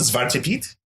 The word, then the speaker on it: Zwarte Piet: So how do you pronounce it? Zwarte Piet? There you go. Yeah, is that it? Zwarte Piet?